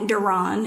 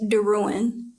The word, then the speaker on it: DeRouen: My last name is not Duron. It's Daruan.